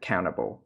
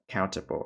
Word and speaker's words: countable: có, người Mỹ thì, cái tiếng Anh Mỹ thì họ thường là không phát âm chữ T. Thế nên từ đầu video các bạn có thể nghe là countable and uncountable nhé.